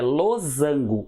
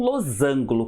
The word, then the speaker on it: losango: cuidado com mathematiques certo a palavra é losango e não losângulo como algumas pessoas pronunciam o que que é